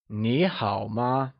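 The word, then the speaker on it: 你好吗: Remember that in ni hao, ni is spoken using the second tone, so it becomes ni hao ma.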